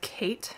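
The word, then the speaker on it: Khaite: Amazon it's a dupe for another brand called Kate it's spelled k-h-a-i-t-e I want to say um which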